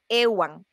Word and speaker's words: Ehuan: modificaciones y es donde comienzan a intercalar la H después de la letra E. Y pues ahí cambia un poquito la pronunciación y es donde surge el apellido como tal, Ewan.